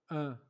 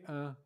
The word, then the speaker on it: un: Un. Okay, I say un, but it's un. Je suis un. Un. Un. Je. Je. Suis. Je suis. Suis. Je suis je. Un.